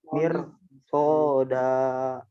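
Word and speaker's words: مرصادا: Perhatikan. Mi-nya kasroh. Mirsoda.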